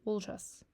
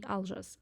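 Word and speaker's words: Олжас: буквой, получится имя человека лжас. Лжас. Лжас. Вот не алжа. То я видела в трес, как кто-то говорит алжа. Я не знаю, почему о читается как а.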